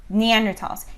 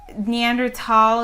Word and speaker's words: Neanderthal: by germans and that's it was in the neander valley and so that's how they pronounce it um that said i